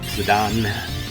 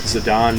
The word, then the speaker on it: Zidane: Need to hook up Zidane. I'm still flipping back and forth. Now that I've decided that Zidane is the correct pronunciation, and yet I'm still totally used to calling him Zidane.